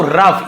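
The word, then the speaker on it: rough: देखो हाउ रफ इसे इससे भी रग नहीं पड़ेगा रफ जैसे यहां पे लाफ वैसे रफ लाफ रफ देखिए आर ओ यू जी एस जहां पे आपको है ना यूजी एच यूजी एच मिले तो फ ऐसे उच्चारण हो रहा है इसे रॉग नहीं पढ़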